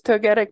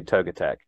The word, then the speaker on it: Togetic: and I recognize that the correct way to to pronounce it is Togetic but being a kid and not knowing how to pronounce Pokemon names I will forever say toga Tech oh really for as long as I live probably is actually so